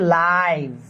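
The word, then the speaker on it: live: কিন্তু এটা মূলত লিভ না এটা উচ্চারণ করতে হবে এটা হচ্ছে লাইভ।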